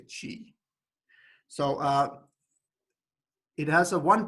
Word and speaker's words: chi: It's like the X in the word Mexico, right? That's the Latin. A Greek letter. I think it's called he. Squared distribution, or chi. Some people say chi.